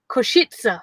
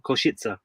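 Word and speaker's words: Košice: it because it's pronounced kushitsa koshitsa koshitsa that's where we're staying koshitsa yeah say again okay it's not difficult shake is it kishitsa yeah exactly but it's not it's not said how it's spelt if that makes any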